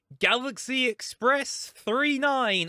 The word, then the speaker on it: Galaxy Express 999: We just watched Galaxy Express 39 or Galaxy Express 999. It's not 999 in the movie, but like it's written 99. Okay, fine, 39. That's how it's said.